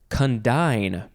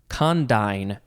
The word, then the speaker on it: condign: Okay, next is condign or condign. It is spelled C-O-N-D-I-G-N, condign.